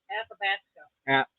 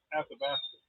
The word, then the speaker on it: Athabasca: Athabasca. Athabasca. Athabasca. Okay, it was gorgeous. Yeah. What she said. Whatever. It And was then we good. went to the Ghosts and Glaciers. I think it's pronounced Athabasca, right?